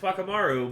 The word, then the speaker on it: Whakamaru: It's pronounced Whakamaru, but it's with a W because that's the Maori pronunciation of F, or of like W.